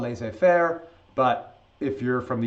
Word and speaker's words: laissez-faire: There's a new idea coming out called, now in French it's called laissez-faire, but if you're from the United States and you go to a class, I was first introduced, it was laissez-faire.